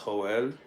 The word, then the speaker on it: Joel: do know a guy named Joel pronounced hoel that's ugly I don't